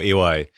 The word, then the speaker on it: Uwais: Do you pronounce it Uwais? Iko Uwais? Uwais? Yeah, Iko Uwais.